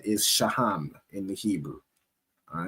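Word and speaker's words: שֹׁהַם: And then we move over to the stone that represent them is a onyx which is pronounced in the Hebrew as shaham most high Christ.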